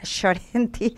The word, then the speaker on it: Llorenti: Y para eso queremos escuchar la reflexión, el análisis de Sacha Llorenti. Nosotros decimos acá nosotras en Argentina Llorenti, pero se pronuncia más delicadamente Llorenti.